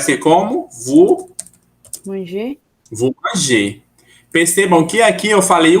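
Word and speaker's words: mangez: Querendo ou não, eu tive que falar agora, porque o Z não vai ser. Então, vous manger. Mas, na verdade, é porque o E e o Z em francês a gente pronuncia I, tá? Não tem pra onde, tem que pronunciar I, tá bem?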